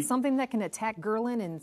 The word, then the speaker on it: ghrelin: There's a hormone named called ghrelin, G-H-R-E-L-I-N, so people can Google it. Ghrelin, it's the hunger hormone. Spell it again, G-H?